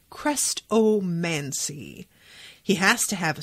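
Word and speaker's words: Chrestomanci: known as the crestovancy you pronounce it crest oh mancy he has to have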